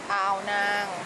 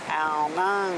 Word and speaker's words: Ao Nang: How do you say it? Ao Nang. Ao Nang. Yes. Yeah, Ao Nang. We're in Ao Nang.